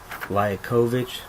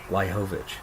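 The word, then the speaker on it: Liakhovich: I've heard Liakovic, and I've also heard Liahovic. I just call him Liakovic. That's how I pronounce it.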